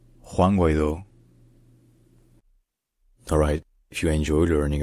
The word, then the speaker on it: Juan Guaidó: In Spanish, his name is pronounced Juan Guaidó, Juan Guaidó, Juan Guaidó, Juan Guaidó.